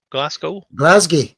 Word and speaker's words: Glasgow: Glasgow.